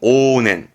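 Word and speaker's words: 往年: 발음은 오넨.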